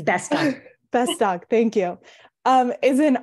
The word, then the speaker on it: Bestock: Did I pronounce that correctly? Bestock. Sorry. It's all good. It's Bestock.